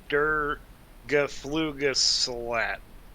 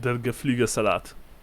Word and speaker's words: Der Geflügelsalat: But Der Geflugesalat.